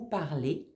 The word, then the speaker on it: parlez: En français, le son EZ, ça fait toujours et. Vous parlez.